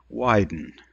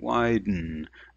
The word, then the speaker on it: widen: and so for example the word widen now you can try to pronounce it and hyper articulate wide and but the the unsound doesn't need a vowel and so we indicate that this is its own syllable by putting that little tiny dot underneath it widen mmm is its own vowel and the same with the word pickle all itself is its own syllable okay let's take a look